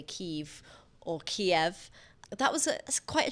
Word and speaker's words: Kiev: Is it because um Kiev is the Russian pronunciation?